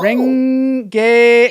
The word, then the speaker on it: Renge: Renge is how it's pronounced.